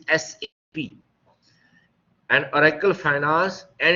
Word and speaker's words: SAP: People pronounce it SAP. SAP is wrong. It is SAP.